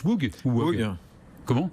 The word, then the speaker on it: Whoog: On prononce WUG ou WUG? Comment? On prononce WUG. WUG, très bien.